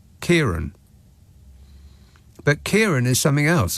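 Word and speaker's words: Ciarán: Is that Karen? Or is it Kieran? Kieran.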